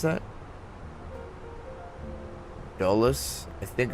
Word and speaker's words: Dulles: How do you pronounce that? Dulles. I think it's Dulles.